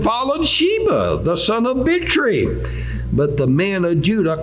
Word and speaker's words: Bichri: I'm going to pronounce that CH like cherry. Bichri, okay?